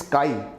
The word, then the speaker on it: chi: am proper pronouncing tough it's not X its Chi okay it's ty ok it's a Greek alphabet so its name and